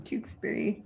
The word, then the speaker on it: Tewksbury: Hi, Tewksbury. Wilmington in the middle of my book. Yay! Woo. Remarkable book. Sharon's from Tewksbury. Am I pronouncing Tewksbury right? Tewksbury. Tewksbury. Oops.